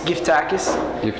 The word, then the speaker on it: Geftakys: do we pronounce it my last name is Greek and it's gift tacis giis and I think